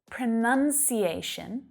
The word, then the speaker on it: pronunciation: in there pronounce pronounce but the noun pronunciation pronunciation has that uh vowel sound in there none pronunciation